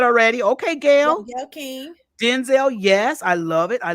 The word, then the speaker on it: Denzel: pronounce his name right it's Denzel it's not Denzel oh is that okay Denzel it's like like this like Vin Diesel okay child was saying Gail King you said already okay Gail okay Denzel yes I love it